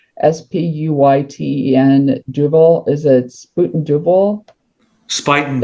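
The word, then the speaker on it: Spuyten Duyvil: told that there's an area in the Bronx it's spelled Spuyten Duval. Is it Spuyten Duval? Spuyten Devil? Spuyten Devil.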